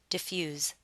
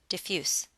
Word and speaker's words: diffuse: it in a sentence if we're using this word as a verb you'll want to pronounce it with a Z sound diffuse however if you're using this word as an adjective you need to pronounce it with an S sound diffuse as a verb diffuse